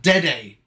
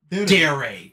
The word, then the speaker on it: dere: Don't try and pronounce something with a rolled R if you're not going to roll the R. It's not Dede. It's Dere, as far as we're concerned.